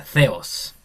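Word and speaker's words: θεός: Claro que aquí se pronuncia ceos.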